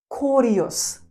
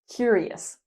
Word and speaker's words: curious: We say cure. Cure. Not core. Not curious. Curious.